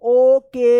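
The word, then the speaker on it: woke: ये नाम है मोहन डब्ल्यू ओ के ई लास्ट में इ रहेगा और उससे पहले वोवेल ओ रहेगा। तो ओ का क्या उच्चारण होगा? ओ उच्चारण होगा। तो क्या पढ़ेंगे? ओक और ई साइलेंट रहेगा।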